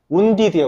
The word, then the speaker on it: wounded: 그 다음에 14번에 wounded in the leg. 이거 읽어보세요, 다시. wounded. 이거 애들 다 wounded라고 읽더라. wounded야, wounded. 오케이? wounded.